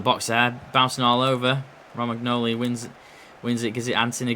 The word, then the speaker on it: Romagnoli: Morgan Gibbs-White on Roman Ogli. Romagnoli, rather. Been pronouncing his name wrong all game.